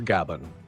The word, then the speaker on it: Gaban: We see Scoffer Gaban, pronounced Gaban, who says the following open quote.